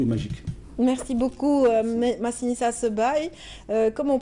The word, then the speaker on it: Sebaï: Merci beaucoup, Massinissa Sebaï. Comment on prononce Sebaï?